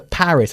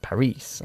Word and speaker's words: Paris: her to Paris the Paris exactly Paris is pronounced differently we put the emphasis on the first syllable in English Paris you know Parise okay Paris good stuff